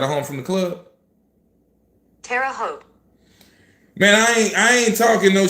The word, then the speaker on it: Terre Haute: Terre Haute. Terre Haute. Terre Haute. Terre Haute, like you Terre Haute up? If you got a home from the club? Terre Haute.